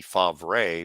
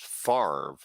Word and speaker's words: Favre: It's not as bad as Brett Favre, Favre. That'd be Favre, but it's pronounced Favre.